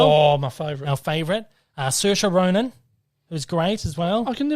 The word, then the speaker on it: Saoirse: Saoirse Ronan, who's great as well. I can never work out how to pronounce her name.